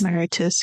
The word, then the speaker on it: Mauritius: Is that how you pronounce it? It's based off the country, right? Named after the country? Yes. Mauritius, yeah.